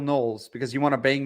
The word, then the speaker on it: Knowles: on Locals saying that Siraj calls him Michael Holes. What am I calling Michael Holes, Jay? Michael Knowles, because you want to bang Michael Knowles. So instead of you call him Michael Knowles, you call him Michael Holes.